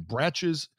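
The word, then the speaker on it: Brach's: actually order a bag online for brat from bratch's classic candy corn and it's spelled b-r-a-c-h apostrophe so if you're looking to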